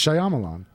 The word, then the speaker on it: Shyamalan: M might Shyamalan shalaman Shyamalan it's Shyamalan believe me I've struggled with this for years and I finally just accepted